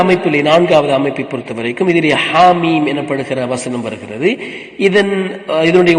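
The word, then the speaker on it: حم: பிழையான உச்சரிப்பு ஹா மீம் இங்க நாங்க மீமைத்தான் ஆறு ஹரக்கத்து நீட்டுவோம் ஹாவை ரெண்டு ஹரக்கத்துகள் மட்டும்தான் நீட்டுவோம் எனவே இரண்டு ஹரக்கத்துகளை விட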